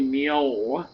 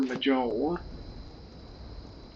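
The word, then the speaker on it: Mjoll: And her name's actually Mio because it's the J is pronounced like a a Y, but I've always called her Majel.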